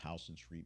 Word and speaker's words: Houston Street: It might be pronounced Houston Street because it's New York City.